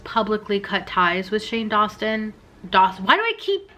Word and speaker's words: Dawson: cut ties with shane dawson dawson why do i keep mispronouncing his name oh my god dawson it's not that hard it's like dawson's creek it's not that hard i don't know why